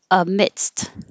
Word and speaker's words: amidst: sure but amidst amidst we do have to say dst so you stop the airflow with your d emit and then relax your tongue so that you can make an s and then push your tongue back up to stop the air for the t amidst but it's easier to